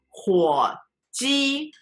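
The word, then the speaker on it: 火鸡: 火鸡 Third tone, first tone.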